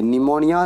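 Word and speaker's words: pneumonia: A school न्यूमोनिया पढेंगे एंड से पहले पी आया है निमोनिया निमोनिया होता है पी एन-यू एम एस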